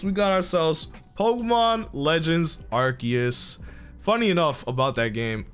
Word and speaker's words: Arceus: went out and said it's pronounced Arceus, so it's like, I'm going by the character. Yeah, I'm going by the official pronunciation.